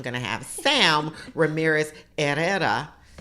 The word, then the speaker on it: Herrera: The H is silent, so it's Herrera.